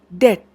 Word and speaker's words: debt: pronounced for example the letter B in the word debt de bTW the B is not pronounced in spite of the letter B being part of the spelling so the first step